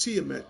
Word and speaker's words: Tiamat: It's pronounced Tiamat.